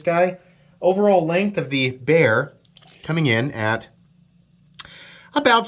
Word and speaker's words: Bexar: Bear. It's spelled like Bexar, right?